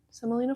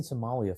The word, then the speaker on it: semolina: So like you know your standard like water, semolina flour. You said it right. I can't say it. I keep saying Somalia flour. And I know that's not what it is.